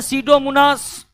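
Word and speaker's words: Pseudomonas: रखना पड़ेगा एक है सीडो मनास सीडो मनास सीडो मनास का पी साइलेंट रहता है दूसरा है थायो बेसिलस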